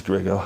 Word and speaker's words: Gregor: And you'll correct my pronunciation, that's Gregor.